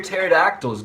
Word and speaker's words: pterodactyl: why can't you hear pterodactyls go to the bathroom because the p is silent what did the pirate